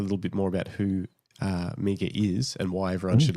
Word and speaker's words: Mieke: I said Mieke rhymes with sneaker.